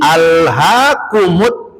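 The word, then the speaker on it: ألهاكم: Maka ketika dibacakannya tidak boleh dibaca bismillahirrahmanirrahim hak umut. Enggak boleh. Tapi harus dibacanya bismillahirrahmanirrahim. Ini alhakumut takatur.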